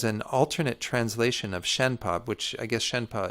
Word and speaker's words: Shenpa: It's the pronouncing in putting into English letters how the Tibetan is pronounced. The Tibetan's different letters, but so I don't even know what there's this system called Wiley that gives what the actual Tibetan letters are using English letters, but how it's pronounced is Shen Pa.